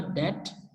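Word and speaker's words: debt: इसी तरह से डेट और सटल, इनमें बी साइलेंट है, तो DET बना डेट और SUBTLE बना सटल।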